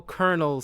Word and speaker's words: colonel: Why do we spell Colonel so, differently than how it's pronounced? Because Colonels should sound like a kernel of corn or something like that.